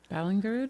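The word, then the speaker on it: Ballingrud: Ballinger. Ballinger. That's what I I'll get that pronunciation down when we actually do the episode.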